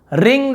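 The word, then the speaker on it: wring: रिंग the towel, ठीक है, रिंग the towel ना, रिंग द टॉवेल टॉवेल निचोड़ दो, डब्लू साइलेंट होता है, रिंग द टॉवेल ऐसे होगा।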